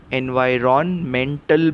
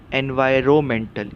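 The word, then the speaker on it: environmental: वाई रो मेंटल एनवायरमेंटल लेकिन आप इसका उच्चार एनवायरन मेंटल भी कर सकते हैं सही उच्चार क्या है एनवायरमेंटल इसमें जो एन है आर ओ एन में एन वो साइलेंट है वह शांत शब्द है उसका स्पेलिंग में उपयोग होता है लेकिन पढ़ने के टाइम उस अक्षर की हम आवाज नहीं लेते तो सही उच्चार क्या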